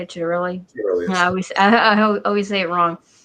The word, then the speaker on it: Ciattarelli: But I do have a question because our the Republican candidate in New Jersey, Jack Ciattarelli, is that how you say it, Ciattarelli?